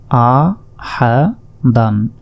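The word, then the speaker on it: أَحَدًا: দাল দুই জবর দান আ হা দান এই শেষের আলিফের উপর দেখুন জবর জের পেশ কিছুই নেই তাই এই আলিফের উচ্চারণ আমরা করবো না আ হা দান শেষ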